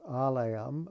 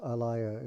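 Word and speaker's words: ālaya: And then it says, alayam, until liberation or even in a liberated condition. The word alaya in Sanskrit with a long A just means a house or dwelling or receptacle.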